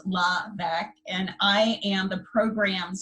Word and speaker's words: Laura LeVesque: to pronounce laugh name so it's pronounced la Becque and i am the